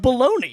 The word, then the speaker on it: bolognese: But it's pronounced baloney. Yeah. What, are you going to tell me there's a G in there next?